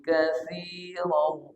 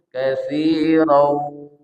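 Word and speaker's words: كَثِيرًا: Katsiran tanwin bertemu dengan waw. Idgham bi gunnah. Cara bacanya dengungkan, tahan. Katsiran. Jadi dia masuk ke hidung. Tapi kalau katsirau berarti masih kurang tepat.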